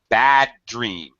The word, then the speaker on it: bad dream: here, when this happens, when you have the same sound at the end of a word and the next word starts with exactly the same sound, we only say the sound once.